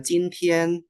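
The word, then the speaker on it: 今天: Nah, yang J, Jintian, J ini kayak C, ya, CIN.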